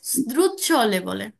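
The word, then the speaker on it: sdrucciolevole: লেবলে মানে হচ্ছে পিচ্ছিল উচ্চারণটা হবে দ্রুচ্ছ লেবলে এটার অর্থ হচ্ছে পিচ্ছিল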